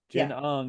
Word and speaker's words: Jen Ung: Is it pronounced Jen Ung? Yeah. Jen Ung, and you describe how she was your editor for Love and Resistance.